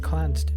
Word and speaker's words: Clanced: Clanced, pronounced Clanced Trust, is a highly unusual